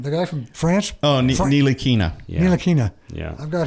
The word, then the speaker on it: Ntilikina: I can't pronounce this guy's last name. The guy from France. Oh, Ntilikina.